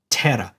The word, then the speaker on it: terra: pronounce the consonant but in Latin we pronounce the consonant so it's in Tera ter is Earth this